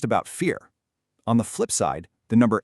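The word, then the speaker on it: 四: In Mandarin Chinese, the word for 4 is pronounced si.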